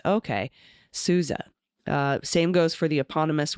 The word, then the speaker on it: Sousa: Perhaps the mispronunciation of the name of the March King was humorous, but I wanted to report the OU in Sousa is pronounced like you, like Suze. Okay, Sousa.